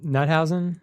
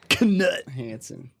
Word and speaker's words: Knut Hansen: I just grabbed the Nuthausen. Is that how you pronounce it? Knut Hansen. Yeah.